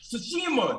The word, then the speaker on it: Tsushima: Tsushima, that's what it is. Tsushima. Yeah, I'm from New Orleans, so I want to pronounce the T so bad.